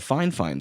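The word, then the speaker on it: Fifine: was doing their microphones, which by the way, the amount of you that don't know that's actually how you're supposed to pronounce it, I agree it's weird, but like that's how it's pronounced.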